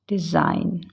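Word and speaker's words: design: इसको बोलेंगे कैसे रिजाइन डिजाइन डी ई एस आई जी एन लेकिन यह जी यहां पर साइलेंट रहेगा हम इसको कैसे बोलेंगे डिजाइन यह बहुत लोग मिस्टेक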